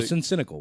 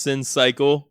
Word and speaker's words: Sin Cycle: okay so so yeah so that is pronounced sin cycle sin cycle so so so the other artist is Cino I'm psycho and we were talking about the cycle of sin you feel me so